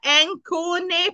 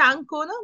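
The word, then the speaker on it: Ancona: যে হচ্ছে আকমে আঙ্কনা আঙ্কনা এটাকে যদি আমরা অ্যাঙ্কনে পড়ি তাহলে হবে নো ওইটা ইংলিশ হয়ে যেত কিন্তু এটা হবে না এটা উচ্চারণে হচ্ছে আংকোনা মানে হচ্ছে আংকোনাই থাকবে সেইম এখানে হইতেছে এটা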